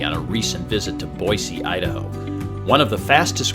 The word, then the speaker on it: Boise: three things i know about boise one it's pronounced boise all the natives have been saying you have